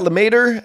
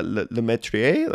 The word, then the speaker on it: Lemaitre: for a long time I feel like it's uh lri I don't know what it is exactly but I always say ler but uh yeah they're